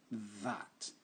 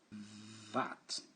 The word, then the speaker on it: that: Hard, TH, qui se prononce dur, qui se prononce vraiment, qui s'entend en faisant le son V.